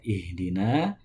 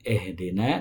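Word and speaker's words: اهدنا: yang pertama dalam lafadz ihdina hamzah dalam kata ihdina itu harus dibaca kasroh dengan cara menurunkan kedua bibir. I seperti membaca konsonan I bukan E. Bukan ehdina tapi ihdina.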